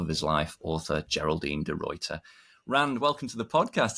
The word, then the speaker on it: De Ruiter: for the love of his life author Geraldine derter Rand welcome to the podcast it's great to